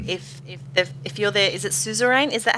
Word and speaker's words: suzerain: Like if you're there, is it suzerain? Is that how you pronounce it?